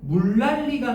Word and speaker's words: 물난리: 지금 물난리로 돼 있지. 물 뭐가 돼야 돼? 랄리가 돼야 돼. 물랄리. 알겠니? 자, 왜 물 난리가 되지? 표준 발음법 20항 봐. 니은 어디 앞에서? 20항. 니. 니은 리을의 앞이나 뒤에서 뭐로 발음한다? 리을로 발음한다. 알겠니?